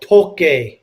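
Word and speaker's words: Tokaji: g i was reading it's called toki is how you say it okay so it's not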